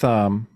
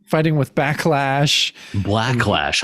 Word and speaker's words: Blacklash: Yeah, so it's Cap goes on fighting with Backlash. Blacklash. Blacklash. I always get his name wrong.